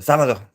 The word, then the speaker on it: sábado: And everybody knows sábado. But the B in Espanol is pronounced more as a V. So sábado.